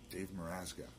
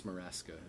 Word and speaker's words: Meraska: Dave Meraska. No, well, you can pronounce it that way. That's just my Facebook spelling. How do you pronounce it? It's Meraska.